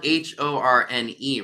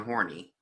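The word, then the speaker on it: Horne: to pronounce it because it's spelled h-o-r-n-e right I thought it was Lena horny not Lena horn excuse me that would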